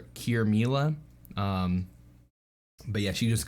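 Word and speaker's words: Qirmilah: to my name but it's spelled very different yeah it's like q-i-r-m-i-l-a-h cure mila um but yeah she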